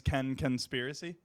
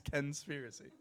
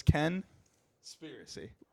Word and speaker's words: Kenspiracy: no that's my last name your name is Ken conspiracy no conspiracy what's your first name Ken so